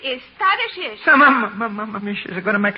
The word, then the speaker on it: Tadeusz: In Poland, we say his name Tadeusz Kosciuszko. But in America, Tadeusz Kosciuszko is fine. Jenna, please. Thank you, young lady. Tadeusz Kosciuszko. How's that? Very good. You say it like you're gonna sneeze, and you got it.